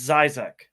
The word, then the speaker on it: Zysek: Andrew and Andrew I always say your last name wrong so go ahead and say your name it's Zac Zac I do it all the time I'm